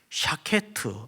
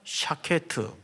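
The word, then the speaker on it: שקד: 뜻인가 하면 그 밖 히브리 발음이 샤 케 트 우리 한번 따라서 볼까 시 이자 샤 케 트 내가 먼저 했나 요 전 시 장 예 샤 케 트 이게 이제 살고 나무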